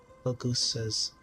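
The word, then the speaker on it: Phagousa: Fagusa, that's how you say it.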